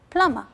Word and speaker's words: plumber: The B is there, but it is silent. I write it, but I don't pronounce it. You write it with a B, but you don't pronounce it, so it's plumber.